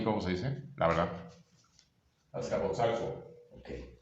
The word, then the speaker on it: Azcapotzalco: Azcapotzalco. Okay. Azcapotzalco.